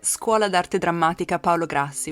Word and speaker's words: Scuola d'Arte Drammatica Paolo Grassi: It's Scuola d'Arte Drammatica Paolo Grassi, which is a drama school in Milan.